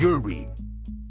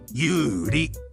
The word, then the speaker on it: Yuri: You don't pronounce this as Yuri. There's no R. We don't say it as an R. It is Yuri.